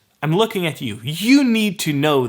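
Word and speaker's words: att: go to be that's at in swedish so both these words can be pronounced o and they are probably gonna be pronounced oh and this confuses sweets as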